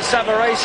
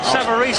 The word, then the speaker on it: Savarese: The Italians behind us are pronouncing it Savarese, and that'll do for me, Frank. Savarese, I believe, is the American pronunciation, but we won't worry about that.